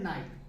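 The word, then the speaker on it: night: जैसे हम देखते हैं नाइट, यहां पर क्या है? नाइट। यहां पर देखिए GH यहां पर साइलेंट होगा।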